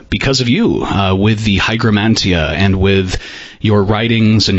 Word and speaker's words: Hygromanteia: So you say Hygromanteia, I will say Hygromanteia. I'm not trying to correct you or anyone. I'm just more accustomed to the modern Greek pronunciation.